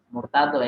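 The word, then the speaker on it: المرتضى: sedikit whoami al-murtadlo ya bukan margoar tadi Bacanya apa Marco Murtado ya salah tes Murtado itu apa orang yang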